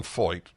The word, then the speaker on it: Feucht: a man named Sean foyt and it's not it's not spelled like it's pronounced I'll tell you now